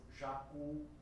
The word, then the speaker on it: jacu: As letras I e U, quando elas finalizam a palavra, elas fazem com que a última sílaba seja a mais forte. Neste caso, quando tem a letra I ou a letra U, ela vai ser naturalmente, não há nenhuma marca gráfica, não há nenhuma acentuação gráfica, ela vai ser naturalmente uma palavra oxítona, a palavra sim, aquele pássaro jacu. Então a última sílaba é a mais forte, é oxítona.